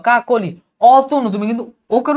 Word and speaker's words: কাকলি: কাকলি, তুমি কিন্তু ওকার উচ্চারণ করছো, কি বলবা? কাকলি।